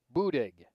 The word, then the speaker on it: Buddig: southwest suburbs of chicago boudig b-u-d-i-g found the pronunciation of it in their guide oh and won the